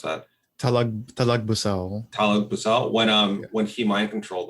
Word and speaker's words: Talagbusao: end when they got mind controlled by Datu Talabus. I'm gonna mispronounce that. Talagbusao.